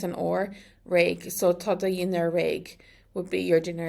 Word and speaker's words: dhinner: And that changes the pronunciation to do dhinner. Dhinner, like there's a Y there.